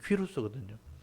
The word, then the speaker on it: 퀴루스: 그래서 나중에 인터넷 찾아보시면요, 고레스 또는 퀴루스, 원래 이제 발음이 퀴루스거든요. 성경이니까 고레스라고 이제 이름을 놓은 거예요.